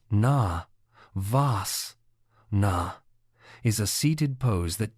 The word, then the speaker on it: Navasana: Navasana, pronounced na, vas, na, is a seated pose that targets the core muscles.